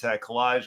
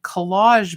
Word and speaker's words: Kolaj: of our regulars, in Collage magazine, which is a really wonderful publication, out of Montreal, international publication, but published in Canada, for Quarterly. the art of collage, Yeah. contemporary collage, and it's spelled Kolaj.